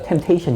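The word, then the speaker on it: temptation: 템프 아닙니까 맞아요 예예 템프 맞죠 근데 이제음 살짝 묵음이 되니까 템테이션 이라는데이 테스트와 템테이션 둘 다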